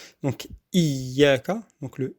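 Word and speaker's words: إِيَّاكَ: On dit iyyaka na'budu parce que c'est plus facile. Et dire iyyaka na'budu wa iyyaka nasta'in. Il faut faire l'effort de bien prononcer le ya mushaddada. Donc iyyaka, donc le i, c'est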